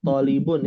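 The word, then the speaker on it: طالبٌ: Hati-hati dalam membaca kata tholibun ya. Di sini bacanya thnya panjang. Tholibun. Tholibun. Betul. Bukan tholibun atau tholibun. Salah itu. Yang panjang yang mana? Yang pendek yang mana? Yang panjang dipendekin, yang pendek dipanjangin.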